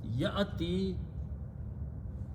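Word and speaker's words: يأتي: In the pronunciation, most of us pronounce wrong. We say yati. It is not yati. Yati is this. Okay. This is ya. You're combining with the hamza, not with the alif.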